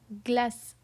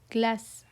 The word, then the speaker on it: glace: It's pronounced as glace, glace. The G is hard here because it's followed by L, right?